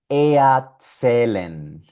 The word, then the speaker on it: erzählen: La E con la R suena EA.